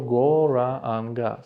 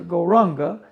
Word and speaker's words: Gauranga: И когда мы это делаем, то потихоньку, так про себя в уме, мы произносим мантру Go Ra Anga. See, this is the mantra Gauranga, so we divide it into 4 syllables.